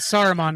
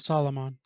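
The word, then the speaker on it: Saruman: Solomon oh sorry s Solomon Grundy I meant soromon not Solomon yeah what's so complicated about that Aragorn legal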